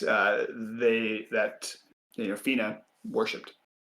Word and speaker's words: Phina: And what click and what clicks with you is that the city name as well as the forest is spelled ph h i n a. So fina wasn't in the city and